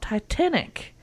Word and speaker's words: Titenic: Eric and today we're talking about TI Titanic not Titanic no I did not mispronounce that it is TI N I see and it is a